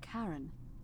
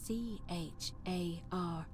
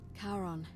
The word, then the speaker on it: Charon: is a little off the name you heard wasn't karen it was c-h-a-r-o-n as in charon the ferryman of the dead karon who in exchange for